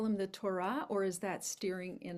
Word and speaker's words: Torah: So I would be joyful if you would use the word Torah or Torah in its Hebrew pronunciation.